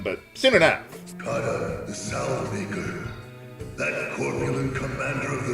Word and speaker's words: Salvemaker: Kata, the Salvemaker, that corpulent commander of the Swordbearers, he has returned to these lands once more. Technically, isn't that pronounced Savmaker?